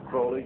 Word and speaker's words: Crowley: about was Alistair Crawley he likes to have his name pronounced Crowley a rhyme with holy and uh the Satanist